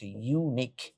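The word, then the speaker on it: unique: কারণ এই উচ্চারণটা ইউ এর মত উচ্চারণ হচ্ছে।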